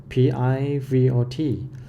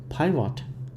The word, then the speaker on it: pivot: thank you for watching i think i have a wrong pronunciation for the word p-i-v-o-t which i said pirate many times but actually it's just a pivot pivot yeah you can check